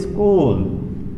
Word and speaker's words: স্কুল: শব্দের শুরুতে একটি অতিরিক্ত স্বরধ্বনি নিয়ে এসে যদি শব্দটিকে উচ্চারণ করতে হয় তখন তাকে বলা হয় আদি স্বরাগম।